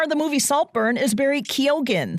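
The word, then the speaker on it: Barry Keoghan: year the star of the movie saltburn is Barry kogen spelled ke o g h n the star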